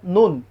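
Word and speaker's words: ن: মিম তিন আলিফ এরপরে নুন নুন তিন আলিফ নুন তারপরে কি হবে ওয়াও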